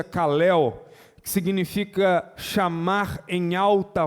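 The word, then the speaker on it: καλέω: Eu fiquei curioso de saber o que significava essa palavra, esse verbo chamou no grego, se pronuncia kalel, que significa chamar em alta voz, proferir em alta voz, convidar, chamar pelo nome.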